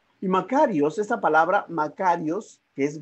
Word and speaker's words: makarios: palabra bienaventurado si es un término griego que se es que significa o que se pronuncia makarios iii makarios esta palabra makarios que